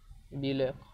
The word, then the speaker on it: بولاق: وبولاق كلمه مصريه قديمه، وهي اصلا يعني بتتنطق بكسر الباء بيلاق، ولكن تم تحريفها الى بولاق.